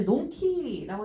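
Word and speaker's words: 呑気: 지금 논이라고 읽어주고 있죠. 논키. 그러니까 그냥 뭐든지 그냥 삼켜버리는 거예요. 한가롭고 느긋한 성격이에요. 성격. 논키나 세이카크. 논키나 세이카크라고 해서 이거는 성격에 써야 돼요. 성격이에요. 원래 한킬 탄자 자체는 원래 톤이에요. 톤이라고 읽어야 되는데 예외일게요. 넌 예외일게요.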